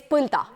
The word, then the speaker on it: Põlda: I know it's very difficult because my name is Põlda. It's not very easy to go abroad and say that, yeah, my name is Põlda.